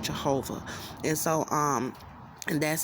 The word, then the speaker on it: Jehovah: name differently but in english his name is pronounced jehovah and so um and that's how he does